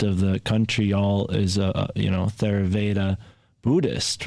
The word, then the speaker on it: Theravada: It's like 94% of the country all is Theravada Buddhist, right? So that's it's actually pronounced, I only found out this recently, it's Theravada. Now, why it's spelled that way, I have no idea.